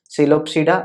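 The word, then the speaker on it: Psilopsida: कौन कौन से हैं, तो पी देखो हर जगह साइलेंट है, क्लियर है ना। सिलोप्सिडा जिसका एग्जाम्पल है सिलोटम,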